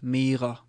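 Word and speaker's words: mere: So in spoken Danish you would have this pronounced as mer, like that, because it's shorter, and we go for the short versions.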